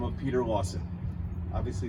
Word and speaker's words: Lassen: Uh, I had a Dutch native pronounce the L sen spelling and uh, she said it exactly like we say Lawson today.